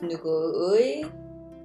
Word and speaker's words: 누구의: So it becomes 누구의, 누구의. Remember, 의 sounds like 에 when we pronounce.